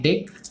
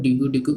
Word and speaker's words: Deque: बोल रहा हूं गाइज क्योंकि ऑफिली डीक्यू को हम लोग प्रोनाउंस करते हैं डेक लेकिन इन जनरल हम लोग डीक्यू डीक्यू करके प्रोनाउंस करते हैं राइट तो correct pronunciation you कैन से डेक होता है ओके एंड वन मोर